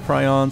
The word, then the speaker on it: Prion: I had a subscriber tell me that it is pronounced Prion, so from now on, this is Prion Terraces.